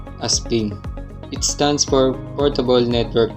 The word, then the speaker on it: PNG: does not support transparency png this is pronounced aspin it stands for portable